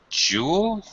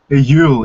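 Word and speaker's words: Juul: it's pretty difficult to pronounce, I think, for an American, but in Dutch, people say Yule. Yule. Yes. Okay, as if it were a Y in English.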